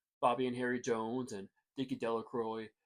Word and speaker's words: Delroy: Bobby and Harry Jones and Dicky Delroy, the villagers pronounced his name Del Croy, eventually made a great